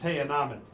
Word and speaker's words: The Unnamed: It's spelled out the unnamed, but it's pronounced Tyanabed.